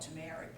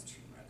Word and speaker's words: turmeric: flavor some people take I used to call it turmeric but it's turmeric I've been saying it wrong all the time it's